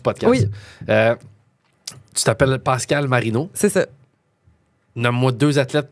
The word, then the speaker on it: Marino: Euh euh Rebecca Marido, je voisuse de tennis canadienne. Ouais, exactement. C'est ça que je viens de googler pour être sûr que j'avais le droit. Rebecca Marino. Mais ça s'écrit comme Dan Marino, pas euh bon ça je suis bien fier.